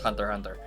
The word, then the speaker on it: Hunter x Hunter: I know it's pronounced Hunter Hunter.